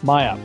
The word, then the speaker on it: Maya: It appears it was strong enough of a shock to awaken Maya. It's Maya. Her name is Maya. Okay, Mia is the dead woman. Maya is her living sister.